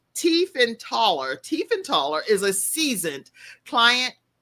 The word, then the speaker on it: Tiefenthaler: And so Abigail, and you can see how her name is spelled, but it's Tiefenthaler.